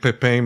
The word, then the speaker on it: Pepin: talk about the uh maybe I'll mispronounce it Lake Pepin Messabout. I guess that's what it's called. Am I correct? Yeah, Pepin. Sounds good. Yeah. Okay. Pepin, okay. I was using the French.